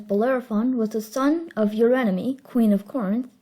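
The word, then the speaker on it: Eurynome: Hipponous, later known as Bellerophon, was the son of your enemy, Queen of Corinth. Yes, that's how you pronounce her name, your enemy.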